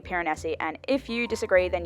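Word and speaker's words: Piranesi: read in the book Pyreneesi. Pyreneesi. Pyrenees sounds wrong, even though that is how everybody in the world seems to be pronouncing it. I think it should be Pyreneesi.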